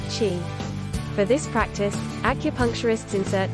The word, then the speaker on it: qi: The flow of energy is known as qi, pronounced qi.